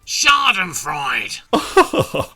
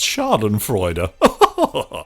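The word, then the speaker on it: Schadenfreude: not quite understanding you shard and fried vic i think you'll find it's pronounced shard and freud you really are a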